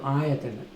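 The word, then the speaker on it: āyatana: A-Y-A-T-A-N-A. But first A is long. Well, Ayatana.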